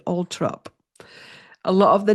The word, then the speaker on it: Althorp: Now, there's a thing with the United Kingdom where, like, Althorpe, spelled Althorpe, is actually Altrop.